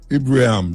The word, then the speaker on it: Ibrahim: Pronounce the name for me, because if it's true, so just say Ibrahim, man.